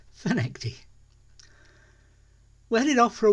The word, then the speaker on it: Findochty: it says on the screen but it is pronounced fenecty we're heading off for a one-nighter total change